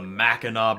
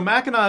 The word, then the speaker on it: Mackinac: a view of the Mackinac Bridge, the legendary bridge that connects the upper and lower peninsulas of Michigan. So Mackinac is spelled with a C at the end, even though it's not pronounced.